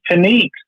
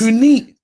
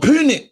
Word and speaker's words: Puneet: It's Paneet. Not Punet, it's Paneet. We've been saying his name wrong this whole time. Wow. Bro, my days. It's Puneet, not Punit.